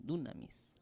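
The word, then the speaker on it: δύναμις: Con acento en la U. Dunamis.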